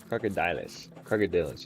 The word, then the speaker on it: Crocodilus: Crocodilus. It's Dillis. Like Dylan.